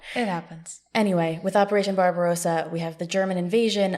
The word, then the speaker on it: Barbarossa: then we have operation barbosa it's barbosa right barbarossa barbarossa what did i yes barbarossa we have one more syllable barbarossa i had it